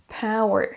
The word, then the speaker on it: power: C'est-à-dire qu'il est important de savoir comment prononcer un mot, par exemple power, pour dire le pouvoir, la puissance, mais il faut aussi savoir où est-ce qu'on accentue power sur la première syllabe.